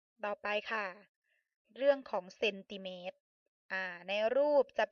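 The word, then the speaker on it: เซนติเมตร: โซ่ ม ม้า จุด เรา อ่าน ว่า เซนติเมต ซึ่ง อ่าน ว่า 8 ซม นะ คะ ต่อ ไป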